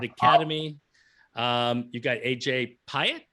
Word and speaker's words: Piatt: defending 106 pound champ colby mcbride from woodward academy um you've got aj piatt is that how you say it i do believe it is piya i do believe uh